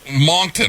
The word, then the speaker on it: Moncton: Tell us about Moncton, or how do you pronounce it?